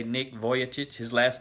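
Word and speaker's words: Vujicic: maybe his name uh when I say Nick voic his last name is spelled vuj i c i see and uh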